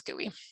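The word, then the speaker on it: GUI: graphical user interface which sometimes people pronounce gooey um it is an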